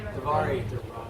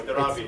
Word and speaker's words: Dharavi: Now see the authentic Highly Davari. Sorry, I said it wrong. Dharavi.